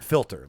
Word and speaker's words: Filter: filter, like coffee filter.